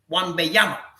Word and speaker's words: Wembanyama: Wembanyama, is he the truth or the next KP?